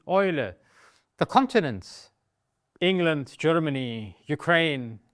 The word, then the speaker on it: Eule: Another combination, another diphthong, is E and U, also E und U, which almost exclusively is pronounced Oi. Please don't ask why it is pronounced this way, it is simply a definition. This is how they do it, and we can just transmit to new friends of the language how it is pronounced. So the owl is die Eule, it is not die Eule, it's die Eule.